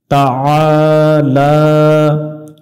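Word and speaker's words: تعالى: লা টান হবে লাহি তাআলা এখানে আ গলা চেপে উচ্চারণ হবে এবং এক আলিফ টানতে হবে লা এখানেও এক আলিফ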